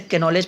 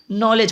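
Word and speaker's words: knowledge: तो मैं इसे कैनॉलेज पढ़ता था। बाद में पता चला अच्छा ये के जो है वो साइलेंट छिप जाता है, आई मीन हट जाता है, नॉलेज पढ़ा जाता है इसको।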